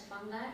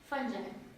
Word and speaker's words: fungi: You may pronounce it as fungi or fungi.